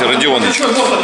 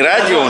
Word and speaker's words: Родион: Ну, как правильно, у нас мастер есть, Родионыч. И как бы мы иногда сокращенно называем его Радик. А Рома Котик называет его Родик. То есть правильно говорить Родион, правильно? Не Радион же.